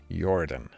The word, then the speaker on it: Jordan: You pronounce Jordan like a Swede. I do indeed. Jordan.